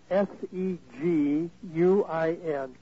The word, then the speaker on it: Seguin: and then I'll repeat it 103 Old Town which is one word Old Town Road the city is the game that's spelled s-e-g-u-i-n Seguin Texas our ZIP code is 78155 and